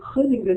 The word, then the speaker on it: Groningen: And this particular picture was taken whilst I was at Groningen, we were taught how to say it properly, Groningen in the Netherlands.